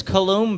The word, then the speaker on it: Coulomb: And so what's this Coulomb barrier? Am I pronouncing that?